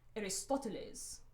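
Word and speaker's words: Aristóteles: And then I pronounced my grandfather's name with this really formal Mexican accent. Aristoteles.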